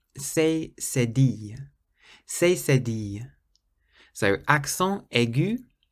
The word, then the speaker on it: accent aigu: Accent aigu. Or if you say it fast, you pronounce the T.